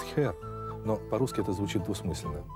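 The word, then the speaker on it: Herr: Auf Wiedersehen, ваш Герр ДК. Вообще-то они произносят «хер», но по-русски это звучит двусмысленно.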